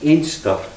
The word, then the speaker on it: Anstruther: These villages, there's Anstruther, and the local people pronounce Anstruther as Ainster, so you'll hear that in the song.